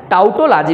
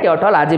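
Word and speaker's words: tautology: क्या आया, ट्योटोलॉजी, ठीक है, ट्योटोलॉजी, टाउटोलॉजी भी बोलते हैं, ट्योटोलॉजी भी बोलते हैं, तो दोनों उच्चारण है, टाउटोलॉजी बोल सकते हो आप लोग, है ना।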